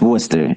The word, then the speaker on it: Worcester: How do you pronounce it? Yeah, it's Worcester. It's Worcester.